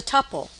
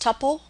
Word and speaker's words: tuple: structure we will examine is the tupple now you will hear this pronounced Tuple and sometimes pronounced Tuple it